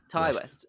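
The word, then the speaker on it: Ti West: to it I love the T West films and he's becoming one of my favorite sort of slasher horror directors along with a bunch of others I believe it's pronounced Ty Ty West oh my bad people my bad so when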